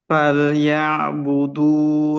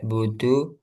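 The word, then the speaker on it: فليعبدوا: Ila ilafihim rihlatasitai wasif nam mas imam falya'budu rabba hadal bait lagi dalnya jangan sampai budu budu budu itu dan sampai ada udara.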